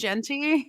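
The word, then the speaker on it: Jeanty: Ashton Genty or whatever somebody corrected our pronunciation I think it is Genty Genty okay okay so here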